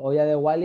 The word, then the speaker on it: Hoya de Gualy: Ah, pues no, a mí me suena eso. Olla de Wally y claro, pienso en Wally y ya digo, vale, pues ya encontraré lo de la olla. No, se escribe con G-U-A-L-Y.